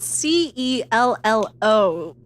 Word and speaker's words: cello: the Chell I know why is cello spelled c e l l o pronounced as cello but Sellar written as c e l l a r pronounced Sellar ah Lenora drinks English things